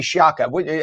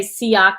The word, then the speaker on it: Sciacca: It's Sciacca, but my family actually says it wrong. We say Siaka because that's just what happens when you come over here.